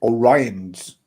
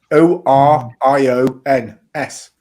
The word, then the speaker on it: Orions: orions ah well actually both populations pronounce the second o as a schwa vowel so um oh look